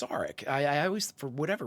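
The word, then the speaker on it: Sarek: it down several times saric is how they pronounced it so um I'm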